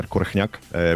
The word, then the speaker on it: Korchnak: In Slovak, I pronounce it Peter Korchnak, which the H sound is hard to pronounce for English speakers.